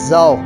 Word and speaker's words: though: The wind comes stealing over the grass, हवा जो है कम्स आती है, स्टीलिंग चुराते हुए, ओवर द ग्रास, घास पर से।